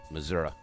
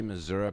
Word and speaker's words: Missouri: And today my guest is my buddy Kevin McManus of Kansas City, Missouri.